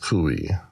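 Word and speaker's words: Coué: from Emil to we I think it's pronounced kui c-o-u-e and he was a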